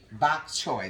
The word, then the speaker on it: bok choy: this right bok chow Victor how do you pronounce it bulk child bok chow bok choy that's it okay so these are the ingredients